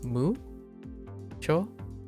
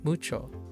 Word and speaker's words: mucho: Uh like you can stress moo cho like mucho, right? But you can also say mucho. So it could go like higher. The pitch can go higher. But as long as it's the stress is on the right syllable, it's okay.